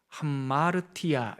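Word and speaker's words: ἁμαρτία: 구약성경에 언어로 죄라는 단어는 여기 구개음이 목청에 나오는 발음이에요 하 하타 이렇게 불러요 하타 그리고 신약 성경의 언어로는이 죄라는 말이 하마르티아 이렇게 돼요 구약 언어에서 하다라는 말과 신약 언어에서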